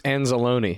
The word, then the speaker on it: Anzalone: But you see Rodriguez, you see I think it's Azalon, or however you pronounce it. Alex Anzalone.